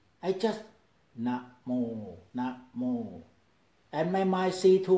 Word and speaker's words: namo: For example, namo. Two words, easy. Na is short. Mo is long. Different rhythm, namo. Different pronunciation, namo.